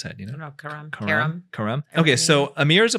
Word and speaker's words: Karam: How do you pronounce that? You know? No, Karam.